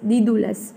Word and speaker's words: Daedalus: And here Daedalus, ये इसका pronunciation है, Daudalus, Daedalus.